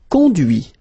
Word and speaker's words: conduit: Conduire, conduit. Construire, construit. Cuire, cuit. Détruire, détruit. Instruire, instruit. Okay, so you can notice that even if I put this final T, so as usual, I don't pronounce it.